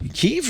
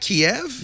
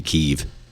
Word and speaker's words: Kiev: Kiev, by the way, actually pronounced Kev. Really? Yeah. Not Kiev. No, it's American school children pronunciation. It's actually Kev.